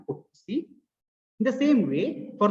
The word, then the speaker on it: putc: These are pronounced as get C and put C.